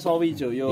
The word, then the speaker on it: Sawijaya: Kan bacanya Sawijoyo.